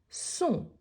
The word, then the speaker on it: sont: Sont. Sont, c'est le pluriel, donc on a deux possibilités. Ils sont ou elles sont. En sachant qu'on ne prononce pas le S, il apparaît seulement quand